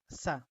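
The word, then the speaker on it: ث: আর যদি আপনি এই 2 নোক্তার উপরে আরেকটা নোক্তা দেন তাহলে হয়ে যাবে যেমন এটা সা। তাহলে বা, তা, সা। আচ্ছা, তারপর এটা হলো জিম। তো যেটাকে আমরা বাংলায় তার উচ্চারণটা বর্গীয় জয়ের মতো হবে, জিম।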